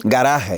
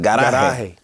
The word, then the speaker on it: garaje: Garaje. No hable. It's only one way to pronounce it in Spanish. Garaje.